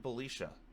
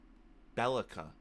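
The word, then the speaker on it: Belica: So, first up we have Belisha, or Bellica, apparently. I've been saying it wrong this entire time.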